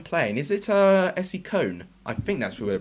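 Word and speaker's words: Köln: is it uh essie cone i think that's who we're playing yeah essie cologne or i think it's kern that's how you say it you should know how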